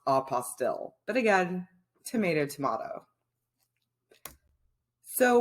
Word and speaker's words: apostille: not tend to refer to it as an apostle it is uh pronounced apostille but again tomato tomato so what is a